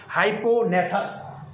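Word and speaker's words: hypognathous: उसके लिए एक शब्द है, एनसीईआरटी में लिख दीजिए, हाइपोनेथस। इसका हेड कैसे जोड़ा है बेटा? हाइपो, जी साइलेंट, NATHQS, ब्रेकर में लिखिएगा 90 डिग्री, बराबर।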